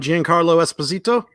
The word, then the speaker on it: Giancarlo Esposito: that's games now it's the trailer has I'm pronouncing his name right Giancarlo Esposito yes yes from Breaking Bad better call Saul